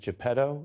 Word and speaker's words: Geppetto: Well, now it's getting deep, Che, because it's sort of like Pinocchio needs, is it Geppetto? Is that how it's pronounced? Yes, Geppetto is his fault.